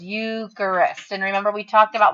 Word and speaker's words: Eucharist: recognize that it says eucharist and remember we talked about when you say the word it kind of sounds like you and christ put together